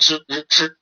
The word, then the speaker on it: 吃: 面是这个它不是一的发音，它是日的发音，吃。